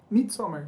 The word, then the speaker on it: Midsommar: O Madison, como que se pronuncia? Midsommar.